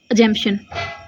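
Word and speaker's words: assumption: तो इसमें जो पी है यह हल्का सुनाई देगा। ठीक है? एजंपशन। एजंपशन। ठीक है? तो हम वहां पे पी को साइलेंट रखेंगे। ठीक है? एजंपशन ऐसे पै को अलग से दिखाने की बजाय एजंपशन। ठीक है? ऐसे साइलेंट में रखेंगे।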